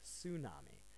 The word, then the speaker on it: tsunami: you is tsunami now in English we have a tendency to call it a tsunami well it's not actually a tsunami um but with pronunciation getting the T sound can be quite difficult one way I can